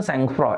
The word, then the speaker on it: sangfroid: इस वर्ड का pronunciation सैंगफ्रॉ, SANGFROID, right?